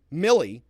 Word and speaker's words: Milley: Chris Walney gave me some education on how to pronounce Milley, like Vanilli.